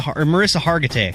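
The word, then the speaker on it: Mariska Hargitay: knuckle tanner referred to an suv actress as marissa block and harkenheimer it's melissa marissa hargitay yes uh he referred to tommy two to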